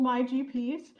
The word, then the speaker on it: MuyGPs: method um is called my gps uh you say it like there's no u in it um there's been lots